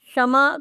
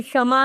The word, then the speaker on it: क्षमा: तो च ही ए क्षमा शमा का सही उच्चारण क्षमा है क्षमा नहीं तो बच्चे अक्षर शरबत